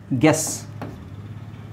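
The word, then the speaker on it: guess: ನೇ ಗಿಲ್ಟ್ ಆಗುತ್ತೆ right ಗೆಸ್ ಜಿ ಇ ಎಸ್ ಅದೇ ಗೆಸ್ ಆಗುತ್ತೆ ಬಟ್ ಯು ಹಾಕ್ಲೇಬೇಕು ಯಾಕೆಂದ್ರೆ ಜಿ ಇಎಸ್ ಹಾಕಿದ್ರೆ ನೀವು ಜೆಸ್ ಆಗುತ್ತೆ ಹಂಗಾಗಿ ಟಂಗ್ ಇಲ್ನೋಡಿ ಯು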